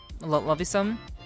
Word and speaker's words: Luvusm: Luvusm. So it's Luvusm. Love you so much.